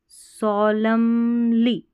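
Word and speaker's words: solemnly: अब यहाँ पर सॉलमली, MN में सॉलमली N साइलेंट है, सॉलमली, सॉलमली N साइलेंट है, ठीक है, सॉलमली गंभीरता से, प्रॉमिस, प्रॉमिस टू।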